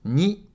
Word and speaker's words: に: two, three and four に is pronounced like /ni/ in ‘needle’ Do you see the needle pulling the thread?